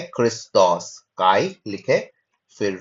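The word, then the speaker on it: Χριστός: Christos में हम लोग देखते हैं अगेन जो ओमिक्रोन है उसके ऊपर एक्यूट ब्रीथिंग वर्क है तो ओ के ऊपर ज्यादा तवज्जो देते हैं।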